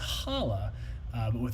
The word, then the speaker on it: challah: Journey let's go uh Chala is pronounced challah kind of guttural beginning H look at David teaching